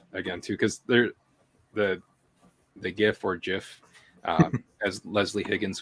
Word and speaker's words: GIF: I would say GIF because it's got the hard G and it would be a graphic interface format.